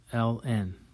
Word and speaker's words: ln: So the natural log is what we call ln. Okay, and ln is pronounced L N.